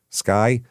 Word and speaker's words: SCCY: Uh Sccy Sky is how you pronounce it apparently.